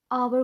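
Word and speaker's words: hour: Subscribers बहुत ज़्यादा थे, लेकिन वो आवर को हावर कह रही थी।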